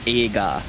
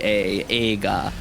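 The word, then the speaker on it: 映画: like the word for movie in Japanese is AA so e i g a AA when you pronounce the E and the I when you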